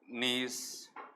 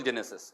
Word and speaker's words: gneiss: Granite and gneiss. G is a silent. G is a silent in pronunciation. This is the UK terminologies. G, N-E-I-S-I-S. G is not pronounced. Okay? You cannot call Genesis.